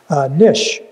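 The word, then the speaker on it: niche: don't have to bother nish n-i-c-h-e there's only one pronunciation in webster's unabridged for this which i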